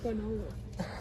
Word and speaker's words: quinoa: Why do you pronounce it like quinoa? It's quinoa.